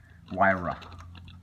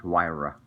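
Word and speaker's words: Huayra: one here the ghani why ruff i don't know why this sounds like a w but when they pronounce it i believe it's wira um but yeah man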